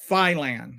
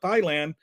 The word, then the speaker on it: Thailand: that we call it Thailand. The British pronunciation is Thailand, and it's just total nonsense. I was like, dude, I've been to 34 countries, including England, and nobody has ever pronounced it Thailand before.